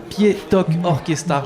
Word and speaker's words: Ktipietok Orkestar: est avec Fred de l' de la fanfare pi to orchestar je l'ai bien prononcé c'est parfaitement ça c'est parfait ça merci